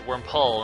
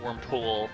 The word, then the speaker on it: Wurmple: That's not how you say it. It's Wurmple, not Wurmpool.